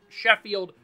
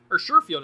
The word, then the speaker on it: Sherfield: Hawkinson, not Trent Sheffield. Sherfield, excuse me. I've been saying his name wrong the whole time.